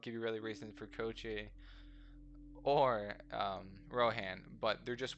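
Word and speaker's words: Koichi: Rohan's pretty cool, as well as, hold on, yeah, Kochi, or however you pronounce, yeah, it's Kochi.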